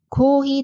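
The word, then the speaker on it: コーヒー: 다시 문장으로 돌아가서 커피예요 커피는 희인 장음이 두 개라서 발음에 주의하셔야 한다고 했어요 같이 한번 더 읽어 볼게요 코 잘하셨어요 만약에 커피를 커피라고 하면 복사라 뜻이 되니까 꼭 장음을 신경 써서 발음해 주세요 커피에요 코히 데스가 전체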